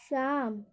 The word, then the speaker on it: psalm: जैसे एग्जाम्पल देखिए, PSALM। इसको पढ़ेंगे हम शाम, शाम। यहाँ पे पी का उच्चारण नहीं होगा।